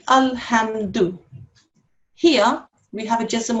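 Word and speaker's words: الحمد: these two letters, and how you pronounce this would be al. How you would pronounce this would be ham. So when you put them together in this word, this will be alhamdu.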